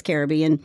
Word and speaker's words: Caribbean: to say it right I always say the Caribbean but I know it's Caribbean I actually did a